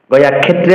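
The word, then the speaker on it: গয়াক্ষেত্রে: ক্ষে কিয়র উচ্চারণ ক্ষ করতে হবে, গয়া ক্ষেত্রে বলা যাবে না।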